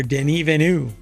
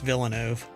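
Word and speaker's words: Villeneuve: there's an entire phrase here that's missing director denu that is apparently how you pronounce his name or he pronounces his name or you're supposed to pronounce his name not Dennis Villano didn't evenu um believes Blade Runner 2049 could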